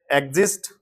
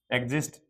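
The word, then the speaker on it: exist: इसी तरह से एग्जिस्ट एग्जिस्ट। इसमें भी यहां स्वर यहां भी स्वर और ये हमारा यहां एक्स। ये ज की ध्वनि दे रहा है।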